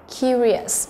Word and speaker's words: curious: B là curious, curious, nó cũng là trọng âm thứ nhất, nó tò mò, đúng không?